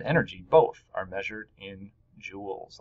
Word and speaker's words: joule: And it's right here, and it's pronounced joules. Kind of like jewels, like a pirate would have in his pirate chest, but not obviously written the same way because it was someone's name, right?